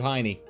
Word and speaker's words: Hien: You guys can try to say Hien. It's gonna be Heine.